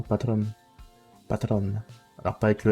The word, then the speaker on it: Patreon: D'ailleurs, je dis toujours Patreon, même si ça se prononce normalement Patron.